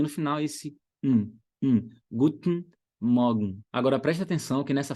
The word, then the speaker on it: Guten Morgen: Ravili, mas se eu quiser falar assim, ó, Guten Morgen, eu posso? Pode, mas você quer soar natural ou você quer soar quadradão? Se você quiser soar natural, Guten Morgen.